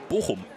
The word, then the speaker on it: Bochum: How do you pronounce that? Say that again. Bochum.